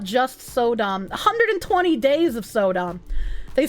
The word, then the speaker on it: Sodom: Didn't I say Sodom, not Sodam? I'm pretty sure I didn't say Sodam. I'm pretty sure I said Sodom.